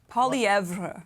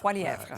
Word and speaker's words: Poilievre: So I like the pronunciation of his name. Poilievre, I believe. Poilievre.